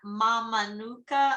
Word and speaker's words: Mamanuca: Nagania is Ninagani, and the C is pronounced TH as in Mamanuca Islands.